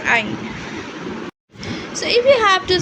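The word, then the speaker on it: ع: And the common mistake we have to say that don't pronounce it like Hamza. It's like Ain.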